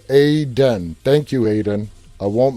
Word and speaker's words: Aiden: And Aiden told me it's pronounced Aiden.